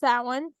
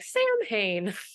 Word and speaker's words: Samhain: s m ha a i n but it's pronounced S one I always forget because I I read it phonetically so I'm like Sam Hayne yeah and that's not the word no that's